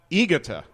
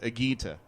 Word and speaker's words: Higuita: And for some reason, I thought it was Igita instead of Agita.